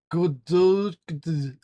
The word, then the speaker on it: Godot: Well, they say there's a Godot. Hang on, Dante said it's pronounced Godot.